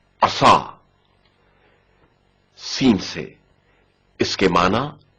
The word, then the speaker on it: عصا: عسى عسى عصا صاد کی آواز موٹی اور پر سنائی جائے گی. عصا عصا صاد کے تلفظ کے وقت زبان کی کیفیت پر توجہ کریں.